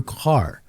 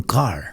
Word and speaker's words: Kerr: It's Andrew Kerr. Andrew Kerr. Everybody that's reading this right now, they're going to say Kerr, and they're going to do like me, but it's the old Scottish pronunciation. It's Andrew Kerr.